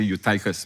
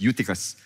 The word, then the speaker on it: Eutychus: It's pronounced as Eutychus. I know some of you say Eutychus, but actually it's Eutychus, who was sinking into a deep sleep.